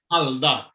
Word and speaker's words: Halda: Halda.